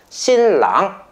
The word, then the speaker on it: 新郎: 한자 똑같기 때문에 발음도 똑같아요. 신랑 똑같죠.